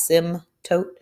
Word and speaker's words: asymptote: so therefore your asymptote remember the p is silent as sim tote would be zero all